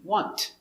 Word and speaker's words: want: Now, this T, want. We don't pronounce it hard like want. We pronounce it almost silent. The tongue comes up a little bit.